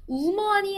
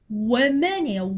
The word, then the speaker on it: woman: 우먼이 아니고 woman이에요.